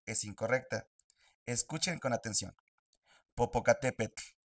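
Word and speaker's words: Popocatépetl: La terminación TL hace que tu lengua toque el paladar. Popocatepl na. Solo quiero mencionar que la pronunciación de la TL en este video es incorrecta. Escuchen con atención. Popocatepet nawatl.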